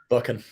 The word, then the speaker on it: Buchan: We're also going to be joined by, how do you say his last name? I forgot how you say his last name. Buchan. Dylan. Buchan. Oh, is it that simple?